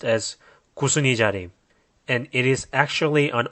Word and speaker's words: Kusunijari: This word is pronounced as "Kusunijari".